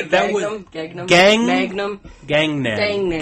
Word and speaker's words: Gangnam: Gangnam. Gang like Gang. street gang? Yeah, Gangnam. Right. Like Vietnam.